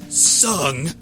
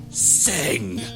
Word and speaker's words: Sung: in the third person to emphasize the correct pronunciation of my name it's sung not sing one man one question